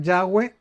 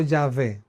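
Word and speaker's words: Yahweh: es y H W no se puede pronunciar es el tetragramaton pero los masoretas pusieron vocales a estas palabras No a estas en español sino en hebreo para que se pudiera un poquito pronunciar yahwe o yahve Okay qué significa Cuál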